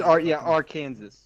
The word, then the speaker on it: Arkansas: I know that's how you're supposed to spell it, but it doesn't look like it's spelled right. I hate. It's Arkansas.